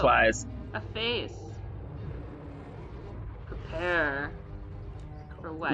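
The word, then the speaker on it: Weisz: Wise, thank you. Or Wheeze. I'm pretty sure it's Wise.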